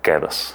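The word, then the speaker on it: КДС: Заключенные произносят это как «Кедос». « Звучит как какой-то греческий остров. Ты была на Кедосе?» — «Да, я была на Кедосе.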